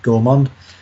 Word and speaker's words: gourmand: I think it's French. Otherwise, it'd be gourmand if it was English. Yep, gourmand. Jessica, whose French is a tad better than mine. When I say a tad, I mean quite a lot. Saying that is the correct pronunciation of gourmand.